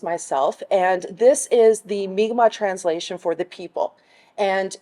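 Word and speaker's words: Mi'kmaq: right in terms of the difference that it pronounced the same and that that is not offensive to people to say migma right this is what is kind of like the common language that we have today mcmack however is the angelized pronunciation of migma so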